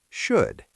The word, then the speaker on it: should: It's only there for historical spelling reasons, but it makes no sound. So how do we say it? The vowel sound in the middle is a short, relaxed sound. It rhymes perfectly with the words good and would.